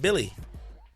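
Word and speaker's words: Willy: You know, then we got Willie, pronounced Billy, Hernan Gomez, who, again, he's a young player.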